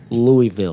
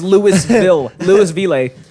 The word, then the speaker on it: Louisville: it's Louisville. It's Louisville. Louisville, like a Louisville slugger, bro.